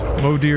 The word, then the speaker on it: Modir: Modir is how you say mother in Old Norse.